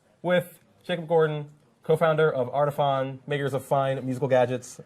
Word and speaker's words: Artiphon: it right yeah people there's no e at the end that's why that's it's not like phone because there's no e okay so welcome back